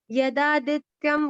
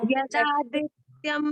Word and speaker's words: यदादित्यं: यदा नित्यम गतम तेजो यदादित्यं गतं तेजो यदादित्यम नहीं, यदादित्य गतम तेजो यदादित्य गतं तेजो जगत् भासयतेऽखिलं यस्य चन्द्रमसि यच्चाग्नो तत्तेजो विद्धि मामकम्।